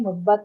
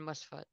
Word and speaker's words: Muzbat: and Musfat. Very good. Okay. Wait, Musbat or Musfat? How do you say that? Musbat. M-U-Z. Musbat? Z. Okay. Z. Okay. Okay, Musbat. Uh-huh.